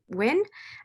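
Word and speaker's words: Nguyen: i'm uh you pronounce my last name win go by she her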